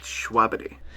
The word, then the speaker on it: Schwabity: his name wrong so he taught me how to say his name correctly it's schwabity and he seemed pretty